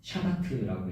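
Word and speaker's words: שבת: 안식의 히브리어 원어는 샤바트라고 읽습니다.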